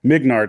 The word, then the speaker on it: Mignard: The dude, Paul Mignard, if I said his name right, or Mingard, I'm always going to say it wrong. Hold on, I can read it right back here. Mignard, I said it right.